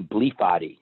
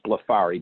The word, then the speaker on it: Blefari: and he called me bleep body and my last name is Bluff Ari but he would pronounce it bleep body he would sound it